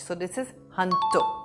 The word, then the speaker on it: junto: Now, this is a Spanish word, and in Spanish, J is pronounced as H. So this is Junto, not Junto.